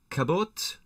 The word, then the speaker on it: Cabot: of a Gene John Cabot Cabo with a silent T Cabo isn't that what